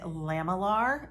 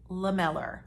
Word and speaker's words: lamellar: i googled that because i didn't know how to pronounce it is it lamelar is it i don't you know but the majority of pronunciation guides on the internet said it was lamellar water this is not like